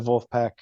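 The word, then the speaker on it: Vulfpeck: but if you haven't listened to Wolfpack it's uh spelled like uh v v u l f p e c k okay but uh yeah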